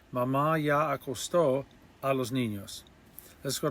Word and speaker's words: acostó: ya, which is already, Mamá ya acostó, with the accent on the O, Mamá ya acostó a los niños.